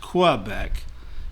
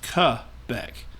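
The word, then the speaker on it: Québec: of quebec now again this is french stuff so it's not pronounced quebec in french it is cu beck now if you put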